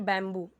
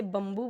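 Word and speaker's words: bamboo: Pencil and बैम्बू, कई सारे लोग इसे बम्बू बोलेंगे, ठीक है, लेकिन करेक्ट प्रोनाउंसिएशन है बैम्बू।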